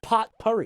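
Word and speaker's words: potpourri: It's pronounced pot pur. Is it? Yeah. That sounds wrong. Nope. That's right. Pot pur.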